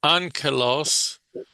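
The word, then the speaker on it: ἄγγελος: letras griegas se pronuncian ángelos. Aunque no se ve la nun en griego, esta combinación de dos letras aquí se pronuncia ángeles. Ángelos, como si estuviera una nun sonido de como n.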